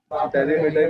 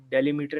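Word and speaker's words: delimiter: semicolon दे देता हूँ डेलीमीटर की स्पेलिंग गलत है MIT हाँ ये सही बोला भाई ने अब मजा आया है ना वेरी गुड कासिम भाई डेलीमीटर नहीं डीलिमिटर है जी बिल्कुल कोई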